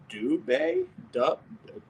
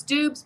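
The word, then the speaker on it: Doubs: as you know uh romeo do bay yes it's dubs but he goes by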